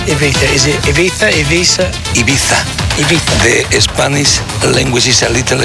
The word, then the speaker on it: Ibiza: And how do you pronounce Ibiza? Is it Ibiza, Ibiza? Ibiza.